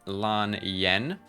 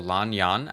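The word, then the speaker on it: Lan Yan: Next, we move along to Lan Yen or Lany Yan actually because I pronounced wrong.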